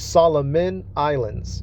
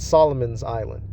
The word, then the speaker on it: Solomon Islands: uh Solomon Islands and it's it's Solomon Islands not Solomon's Island uh so you you know pronouncing it right says the history of